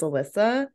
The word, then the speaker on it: Alyssia: Aquarius discussion is that the eye is silent so it's Alyssa Alisa sorry Elisa no